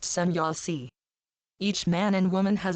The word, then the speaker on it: Semjase: wisdom from some Yosi pronounced sanyaasi each man and woman